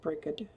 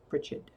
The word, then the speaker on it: Brigid: daggers because Ronnie and Brigid Bridget however you prefer to pronounce her name you can also pronounce that breed or Bridget anyway the goddess Brigid